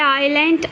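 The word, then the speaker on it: island: यहाँ पे हमारे पास वर्ड है आइलैंड, ILNDS, इसमें साइलेंट होता है।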